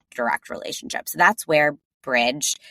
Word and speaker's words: Brij: relationship so that's where Bridge it's spelled b r i j but pronounced Bridge that's where that comes